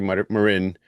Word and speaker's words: Marin: So you know if you're speaking in Spanish it would be marin. If you're speaking in English it's Marin.